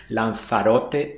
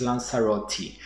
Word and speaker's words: Lanzarote: Do forgive me if I switch between the local pronunciation Lanzarote and the English Lanzarote throughout the video.